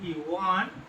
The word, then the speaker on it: one: কিন্তু ওয়ান উচ্চারণটা করো তো দেখি, ওয়ান, তাই না? ওয়া। দেখো ওয়ান উচ্চারণ করতে কি আসছে না? ওয়া। ও মুন্তস্তয়াকা তঞ্জানো ওয়ান, উচ্চারণটা দেখো ওয়া আছে ভাবে, উচ্চারণটা কেমন আসছে? ওয়া।